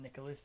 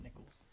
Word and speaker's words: Nichols: you did it Nichols it's not Nicholas it's Nicholls Thomas Nicholls brother of